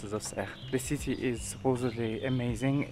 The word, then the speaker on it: Auxerre: I keep on pronouncing Auxerre, although I think it's correctly pronounced as Auxerre.